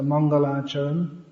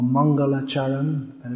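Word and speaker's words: Mangalacharana: This is from the beginning of Chaitanya Charitamrita, so we can recite all these verses as a Mangalacharan, or Mangalacharan, as is usually mispronounced.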